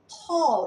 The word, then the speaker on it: tall: Tall, itu bacanya jangan tall. Banyak orang membaca tinggi, tall. Itu sebenarnya suara O.